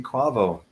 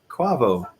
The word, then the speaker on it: Quavo: is and AO AO quavo right isn't that isn't that the name isn't that how you pronounce it it's pronounced Quaver but with an O and not uh quo